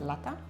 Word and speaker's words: lata: I should have pronounced that T kind of hard. Lata.